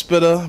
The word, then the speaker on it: SPTA: all right well um it's pronounced spitter but it's it's acronym is spta and it stands for